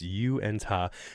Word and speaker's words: Uintah: This is how it's probably, they're saying it probably should be phonetically enunciated. Uintah. So, it's Uintah.